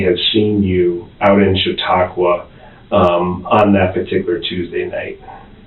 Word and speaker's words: Chautauqua: that, maybe you can help me with the pronunciation. Chautauqua.